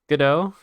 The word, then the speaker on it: Godot: don't like that name but how do you pronounce gato Godot Gadot go Dot godo I like Goto do